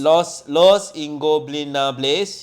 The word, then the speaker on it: Los Ingobernables: I can't pronounce it, bro. We have done this dance before. I know. Los Ingobernables. Los Ingobernables.